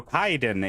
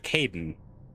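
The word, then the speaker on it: Kaidan: My brain goes, ah, yes, K-A-I would be pronounced Kai. So then I go Kaiden instead of Caden.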